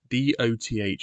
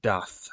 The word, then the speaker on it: doth: Yeah, so D-O-T-H is pronounced doth, not doth. It's just really annoying when people say doth. It's doth, in a similar way to how does is pronounced does, even though it's D-O-E-S.